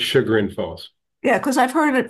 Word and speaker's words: Chagrin Falls: Because is it Chagrin Falls or is it Chagrin Falls? It's Chagrin Falls.